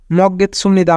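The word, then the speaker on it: 먹겠습니다: থাকলে দন্ত উরাসু বিউব বিউব বাসিমের পরে নিমুন থাকলে বিউপের উচ্চারণ বিমের মত হয় তাই উচ্চারণ হবে সুমন নিয়ন মাঝে থাকলে দন্তন্য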